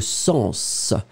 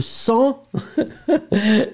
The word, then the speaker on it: sens: Dans ce mot-là, on doit le prononcer. Le sens. Parce que si je ne le prononce pas, le sang, c'est ce que je vais couper et ce qui va arriver.